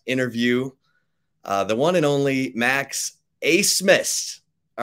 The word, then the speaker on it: Max Abmas: Very excited to bring into the Flagship podcast interview the one and only Max Abmas. All right, Max, did I pronounce that correctly?